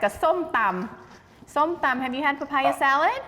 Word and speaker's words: som tam: Som tam.